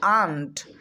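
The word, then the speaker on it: aunt: মত উচ্চারণ করতে হয় যদি বলি এ ইউ এন টি এটার উচ্চারণ অন্ট হবে না এটার উচ্চারণ করতে হবে আন্ট আন্ট মানে চাচি মাসি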